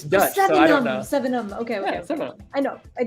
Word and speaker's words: Sevenum: the picture, GR8, and I think it's pronounced Sevenum. If I'm wrong, what was that? I'm wrong. Sevenum. Sevenum. I keep wanting to say Severnum because we live near Severna Park, but it's Sevenum.